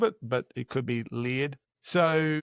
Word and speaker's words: Leard: I'm saying it Leard because it's spelt like beard with an L, but some people have already pronounced it Laird.